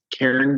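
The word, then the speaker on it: Cairn: guys at yes so it is Karen View Winery just like saying your best friend Karen except without the e so it's spelled c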